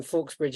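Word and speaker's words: Fauxbridge: and then Fawkesbridge is FAUX as in foe, Okay. and bridge.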